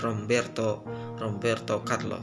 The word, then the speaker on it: Roberto Carlos: Perkataan B ini ada pada konsonan M dan P. Jadi dibacanya itu bukan Roberto Carlos, tapi Romberto Carlos, seperti itu.